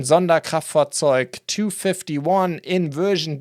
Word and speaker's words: Sonderkraftfahrzeug: That is, and I have to pronounce this in German, Sonderkraftfahrzeug 251 in version D, which is basically one of the, I guess, most well-known German half-tracks during the war.